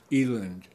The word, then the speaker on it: eland: retirement and he land which I think has actually pronounced Eland but I don't like that so I say Eland uh and he land